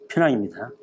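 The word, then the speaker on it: Penang: 늦게야 18세기 말에 영국 진출하고 대신 이제 처음에 돌아오자마자 보통 페낭이라는 정확한 발음이 이제 페낭입니다.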